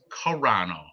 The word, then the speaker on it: Carano: Oh, and Ice Viking Serrano pronounced Carano.